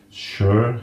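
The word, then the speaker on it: Suhr: We have a Shure, I'm never quite sure how to pronounce this. Shure, S-U-H-R, Shure, yeah. Shure, yeah.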